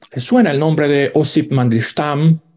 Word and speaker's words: Mandelstam: Bueno, probablemente les suena el nombre de Osip Mandelstam, o Mandelstam, en ruso se pronuncia Mandelstam.